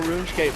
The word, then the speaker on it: RuneScape: I still want to know what RuneScape is. Runescape it's is how like- it's pronounced.